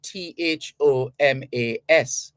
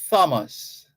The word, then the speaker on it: Thomas: names so for example t-h-o-m-a-s there's no need to say Thomas that doesn't exist in the real it's Thomas the H is silent saming for t-h-o-m-p-s-o-n it's